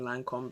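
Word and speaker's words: Lancôme: she did that Lancome I'm just not try and be bougie and French and just same Lancome because that's how I've always pronounced it this is the Lancome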